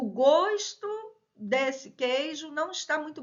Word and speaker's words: gosto: gosto e gosto o gosto desse queijo não está muito bom o gosto tá então ó substantivo estou falando dele fechado eu gosto de você verbo gostar então Ó aqui pronúncia com o aberto né Então pronto seus